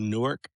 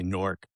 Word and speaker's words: Newark: So, I grew up in a city called Newark. We don't pronounce it that way. We say Norc.